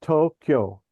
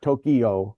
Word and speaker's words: Tokyo: It's two syllables. It's Tokyo. It's not It's not Tokyo.